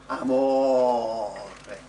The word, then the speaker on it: amore: You just went amore. Notice that even when you make it really long, amore, the last syllable's still short, because that's how you speak in Italian.